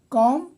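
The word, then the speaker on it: calm: में जी साइलेंट है कॉम कॉम में बी साइलेंट है यह है नाइफ नाइफ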